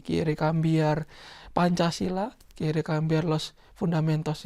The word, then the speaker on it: Pancasila: me ha dicho que se escribe Pancasila, pero se pronuncia Pancasila.